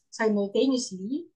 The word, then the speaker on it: simultaneously: benefits and simultaneously, and, simultaneously. Oh, very long. and simultaneously, Simultaneously, yes, it's like this. perform Let me simultaneously. How to say this? It's like saying no, they, simul- ni, simultaneously, use, li.